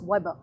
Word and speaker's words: Weber: calling him max as we call it in a very anglicized american pronunciation a german will call him max max weber okay but we'll go by max weber to keep it simple so max weber and